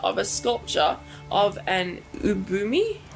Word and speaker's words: ubume: To represent Momo, the accounts use the picture of a sculpture of an ubumi. How do you say it? I know it's a Japanese term. Ubume.